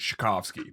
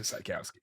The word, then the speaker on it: Czajkowski: So in Polish, it's Sykowski, but my family's Americanized it to Sykowski.